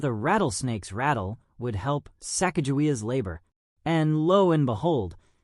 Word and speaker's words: Sacagawea: But for the purposes of this video, we will pronounce it as Sacagawea.